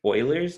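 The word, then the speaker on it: Euler: name because it's um called um this is pronounced Oilers number who was a a German I want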